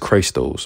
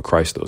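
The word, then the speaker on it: Christos: son thing okay because Greek people call Christ Christ those or Christ those that's how you say it in Greek in Hebrew you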